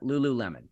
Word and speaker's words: Lululemon: Yeah, that's how you pronounce that. Lululemon.